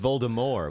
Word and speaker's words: Voldemort: Voldemort flight of death apparently she meant it to be pronounced Voldemort with a silent T oh well Emily in